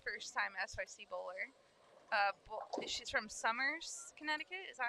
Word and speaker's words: Somers: She's from Somers, Connecticut.